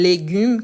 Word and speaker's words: légumes: Donc, on sait que sa fonction, c'est marquer un E comme tel que règle qu'on doit prononcer avec les sons ouverts. Règle. C'est différent, par exemple, de légumes qui s'est fermé. Légumes, règle. Donc, quand est-ce que je dois l'utiliser?